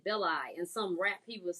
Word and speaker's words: Beli: Oh, I kept saying Belly. I was too, but then I was going through some of the clips to see how to pronounce it, and it seemed like he said Beli in some rap he was saying.